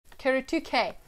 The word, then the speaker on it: Kuretake: Kuretake. That's how you pronounce it, I think.